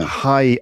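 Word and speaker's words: Raí: Hai, R-A-I. How do you say that in Brazilian Portuguese? Hai. That would be hai. The R is pronounced more like what we would use an H for.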